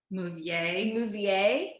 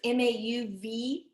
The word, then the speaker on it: Mauviel: We don't really know how to say the names because we're not French, but Mouvier. So it's Mauviel is a iconic French manufacturer that's 7 generations in on making copper pots.